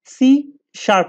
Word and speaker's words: C#: এরপরে বলছে এটা প্রোনাউন্স হয় সি শার্প নামে, সি হ্যাজকে আমরা সি শার্প বলে থাকি।